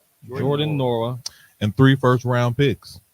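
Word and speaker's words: Nwora: for Bruce Brown Jordan Norwood you don't the is silent what called a brandy bro his name he ain't a Norwood Jordan Norah and three first round picks gentlemen what do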